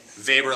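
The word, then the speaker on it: Weber: which guy studied bureaucracies but it's spelled with the w good vapor like vader that's how i remember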